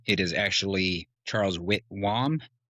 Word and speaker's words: Whitwam: I introduced him as Charles Witman. And if you look at the spelling of his name, it is actually Charles Witwam.